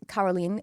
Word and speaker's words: Carolene: It's Carolene spelled like Caroline if you were saying it with an American accent.